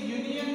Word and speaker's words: union: U is the vowel sound. But the sound is like a consonant sound.